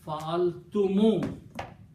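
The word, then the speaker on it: فعلتم: Always we read fa'altum. Okay. In some parts of the Arabic speaking countries like Mauritania and Morocco, I'm not sure about Morocco, but I know about Mauritania, they pronounce this fa'altumu, like a dhamma is on the mim. Written is fa'altum, but when they will be reading this, they will pronounce fa'altumu with a dhamma.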